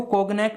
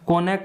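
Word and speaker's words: Cognac: करना, and drinking कोनैक, इसको कोगनैक नहीं बोला जाएगा, जी साइलेंट है, कोनैक बोला जाएगा।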